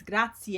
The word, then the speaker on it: grazie: Remember, it's grazie. Again, two vowels together, you pronounce them. Grazie.